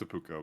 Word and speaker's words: Apucho: It's Apucho, by the way, and I mispronounced it the first time I read it.